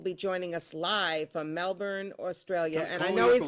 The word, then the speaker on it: Melbourne: joining us live from Melbourne, Australia. And I calling know up he's from going to Australia. correct me because I don't say it right. It's not Melbourne, it's Melbourne or something.